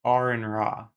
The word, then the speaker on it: Aron Ra: It's pronounced Aron Ra. Aron. Like a registered nurse, RN, like the letters of the alphabet, RN. It's not Aron. Aron is spelled with two A's. Aron spells his name with one A. It's Aron Ra.